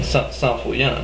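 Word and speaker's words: Saint: it's seism you know San not St pellan you know San there you go so this is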